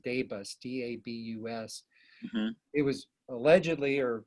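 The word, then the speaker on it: DABUS: about in a second that i think it's pronounced debus d-a-b-u-s it was allegedly or or at least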